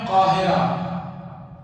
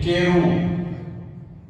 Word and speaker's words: قاہرہ: مثلا مصر کی جو کیپٹل ہے، راجدھانی ہے، اس کا نام ہے قاہرہ، لیکن انگلش میں یا انگریز لوگ اس کا تلفظ کرتے ہیں کیرو. اس کا اصل نام ہے قاہرہ لیکن وہ لوگ کیرو کہتے ہیں.